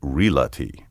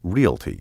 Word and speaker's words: realty: the word realty correctly don't stick the l sound where it doesn't belong and say relati the word should be pronounced realty like real plus t